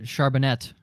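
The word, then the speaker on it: Charbonnet: as well Zach uh charbonet there's got to be 17 ways announcers are going to pronounce his name there's gonna be so many a French way is the way to pronounce it listen I've heard okoriki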